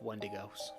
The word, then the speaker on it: Wendigo: and these symbols were used to ward off Wendigos. Wendigos, however you want to pronounce it.